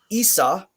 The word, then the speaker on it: Isa: is the the um Isa is a short I sound so like in sit and it and bit it's also the I sound like an Iceland so spelling Iceland would